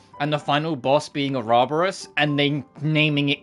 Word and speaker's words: Ouroboros: But it was so nice playing Bravely Default and the final boss being Ouroboros and then naming it correctly. And like pronouncing it correctly. All the characters go, Ouroboros!